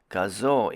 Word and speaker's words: Gazoo: gazu racing or the word gazoo is actually pronounced gazoo in japanese but it's called gazoo racing here in north america and the grz